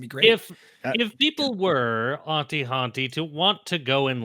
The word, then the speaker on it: Auntie Hauntie: That's Auntie rhymes with Hauntie. Or Auntie with an H in the middle if you prefer.